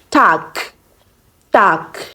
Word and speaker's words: Tag: But when you're pronouncing this word, you don't pronounce the G as G, but it changes to K when you are pronouncing. So you say Tag, Tag.